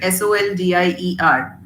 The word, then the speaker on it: soldier: When it comes to writing, you write SOLDIER. But when you pronounce that word, when you speak it out, you say j sound, soldier, isn't it?